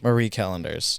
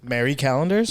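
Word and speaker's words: Marie Callender's: yeah Marie callenders how do you say it Mary calendar is a Marie I say Marie Marie callenders those are like the top I've never heard someone say it the other way Mary calendars yeah I'm sure it happens all the time m-a-r-y is Mary anyway I think Stouffer's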